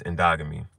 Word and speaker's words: endogamy: But But the way this is spelled, it Ndogamy. So I keep wanting to say but it's endogamy.